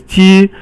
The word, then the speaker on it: 鸡: So the next one is 鸡, it's all first tone, and it means chicken.